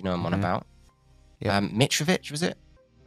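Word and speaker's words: Mitrović: Mitrovic, was it? I said it right. Mitrovic is correct, hold on.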